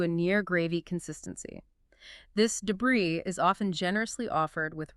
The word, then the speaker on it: debris: Oh, debris pronounced debris. and bree like scraps.